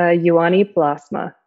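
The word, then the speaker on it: Juhani Pallasmaa: the phenomenology question sure it's uh yuani plasma and his first name is spelled j-u-h-a-n-i and last name is p-a-l-l-a-s-m great and then there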